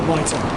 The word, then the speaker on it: Mitre: Meter in, is it meter or mitre? Mitre. Mitre. I'm saying it wrong.